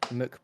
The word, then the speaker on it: McMahon: Julian Is that how you something, pronounce it? Yeah, McMahon.